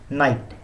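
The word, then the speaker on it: knight: इसे ऐसे इन्वर्सली कहेंगे नाइट के एन आई जी एस टी बोलते वक्त के साइलेंट होता है ए एन आई जी बोला जाता है तो इसे बोलते हैं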